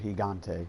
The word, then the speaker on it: Gigante: Nier Gigante. My friend told me how to pronounce the Gigante part.